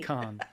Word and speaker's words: Cannes: cans?